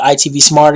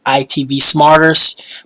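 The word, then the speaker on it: IPTV Smarters: Shout out to IPTV Smart, or I call it ITV Smarter. It's actually pronounced ITV Smarters, but that doesn't, whatever reason, that just doesn't fit my vocabulary pattern, so I just call it Smart.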